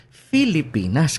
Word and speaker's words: Filipinas: na wika ang Tagalog, ang spelling naman nila ng Pilipinas at ang paraan ng pagbigkas na sabi, Filipinas. Kasi Kastila ang pinanggagalingan natin.